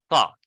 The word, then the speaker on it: thought: Here with a T, thought. Without the T, though. Why?